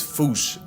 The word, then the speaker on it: fossa: Because their name comes from the original Malagasy word, and apparently the correct way to say it is Foosha. Like Foosh, with a performance anxiety at the end.